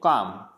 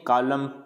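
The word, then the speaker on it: calm: next है अगर M से पहले, अगर M से पहले L आ जाता है तो इसको पढ़ेंगे काम, बाम, पाम, ऐसे नहीं कालम, बालम, पालम, ऐसे नहीं पढ़ना है,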